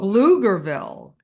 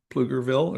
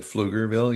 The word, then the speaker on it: Pflugerville: You You flug flug Pflugerville, Texas is flu But it's p f l u g. So, but people have a tendency to say ville. say Pluger Plugerville or I don't know on that one.